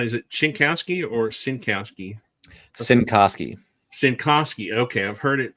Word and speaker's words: Cincoski: Cincoski. Cincoski. Okay, I've heard it pronounced all different ways in the last few days.